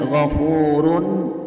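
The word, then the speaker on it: غَفُورٌ: Waw berharakat fathah kemudian ghofurun hukum bacaan izhar halqi karena ada tanwin dhomah yang bertemu dengan huruf Izhar yaitu hak cara membacanya yaitu terang dan tidak boleh mendengung di sini hukum bacaan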